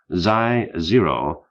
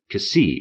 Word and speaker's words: Xi: a subatomic particle called z0 spelled xi- z o with X I pronounced CI if you speak Greek and Z if you speak English had been detected for